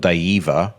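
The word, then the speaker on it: Daeva: They're called Diva, which is spelled D A E V A.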